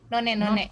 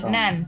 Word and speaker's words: none: Ya, nan. Ini bacanya nan ya. Iya, nan maksudnya. Ini non, no one, ini nan.